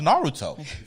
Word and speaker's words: Naruto: I'm sorry dog take that out of the film all right bro it's pronounced Naruto sorry bro so what you're telling me is